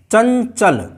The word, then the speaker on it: चंचल: चंचल, अंग चन, अंग चन, देखिए उच्चारण बदल गया। चंचल, चंचल नहीं है, चंचल, चंचल, यानी इसकी आवाज़ निकल रही है, ञा की आवाज़ निकल रही है।